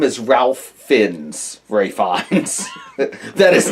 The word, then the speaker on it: Fiennes: Well, I'm going to pronounce it correctly because I'm not a jerk. Your name is Ralph Fiennes, Ray Fiennes.